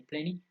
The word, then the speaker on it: plenty: example plenty of perhaps the American people remember they don't pronounce the T when there is a tie between the N and the Y so plenty or plenty they would say plenty plenty off which means sufficient